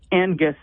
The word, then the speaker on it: Angus: Joyce yes I do when you're saying Angus you're pronouncing that n very clearly and when you say Angus it it doesn't have as strong a pronunciation it's more of a the the NG is together and I I I almost took the G out I hear it now